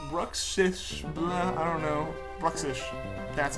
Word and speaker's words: Bruxish: Bruxish, that's how you say it.